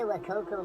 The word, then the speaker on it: Wacaco: That's the WACACO Minipresso.